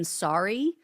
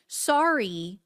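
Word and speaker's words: Saari: a guy named Stephen Saarai, I think that's how you pronounce it. It's s a a r i, he was held without charges for 6 hours and they denied him access to an attorney.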